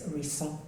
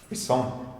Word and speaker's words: Orisun: it as Orisun, but it's Orisun. Orisun. Orisun. It's quite French, like a French. Yeah, there's an accent on the I, and maybe that's. So the emphasis should be ori, and then the last syllable kind of disappears. Is eaten up.